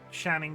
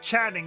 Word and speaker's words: Channing: to freaky F Friday why do you say it shanning Tatum how how is it pronounced is it Channing tat I say shanning is it Channing it's Channing isn't it now you've told me